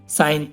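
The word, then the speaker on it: sign: अब इसमें ही देख लो गाइस, एन से पहले जी आया हुआ है तो जी साइलेंट है हमारा इसमें। ऐसी और भी एग्जाम्पल है गाइस, रिजाइन, रिजाइन माने त्याग देना, साइन, साइन माने तो आप सबको पता ही है, साइन।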